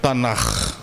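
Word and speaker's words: Tanakh: a a pronúncia correta a pronúncia correta Quando você estuda o hebraico é tanar que é cultural né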